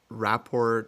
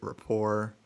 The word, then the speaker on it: Rapport: i've heard like uh rapport rapport and i have no idea i asked and i was told it's like the t is pronounced so it's not i mean like a french word right developed a nice rapport